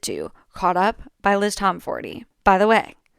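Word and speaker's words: Tomforde: Classics include, but are not limited to, Caught Up by Liz Tomforty. By the way, I did learn that the E at the end of Liz Tomforty is supposed to be pronounced.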